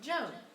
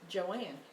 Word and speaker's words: Joanne: a in you would think it would be pronounced Joan but her mother pronouncing starting Joanne and that's how she spelled it well I'm